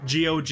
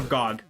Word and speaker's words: GOG: or Gog. I I'll call it Gogg.